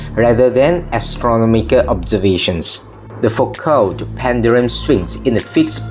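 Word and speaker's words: Foucault: for the french physicist's genes for code pronounced focal who first used it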